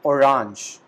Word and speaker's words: Orange: We call it orange in German. So there is no change in the spellings between both the words, but we have a slight change in the pronunciation. In German, we call it orange, but in English, we call it orange.